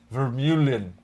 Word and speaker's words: Vermeulen: And he said it's pronounced like Husingfeld. Vermeulen.